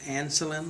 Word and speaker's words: Ancelin: e l i n pronounced insulin like insulin all right so um